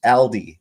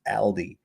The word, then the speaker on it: Aldi: Aldi stores, Aldi, that's how it's pronounced, Aldi, in London now require a scanned QR code for entry.